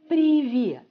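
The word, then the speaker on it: привет: phrase like preview previewed so the stress will be here previewed right actually we can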